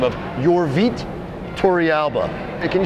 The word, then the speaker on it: Yorvit: It's actually Yorvit, but it takes a little practice.